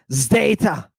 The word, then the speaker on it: zeta: wait what yeah yeah now I'm gonna let you say Zeta and we're going to pronounce it with a zed z right but you got to realize this is a combination of two letters right D and S right oh God God